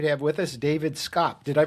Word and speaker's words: Scopp: Hi, welcome to another edition of the Trustcast Show, and we're really happy to have with us David Scopp. Did I pronounce that correctly, David?